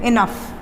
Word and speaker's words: enough: COUGH का pronunciation है कफ, COUF, कफ, sound आ रहा है कफ। ROUGH साउंड आ रहा है रफ, रफ। LAUGH, laugh, LAUGH, laugh. ENOUGH, इनफ।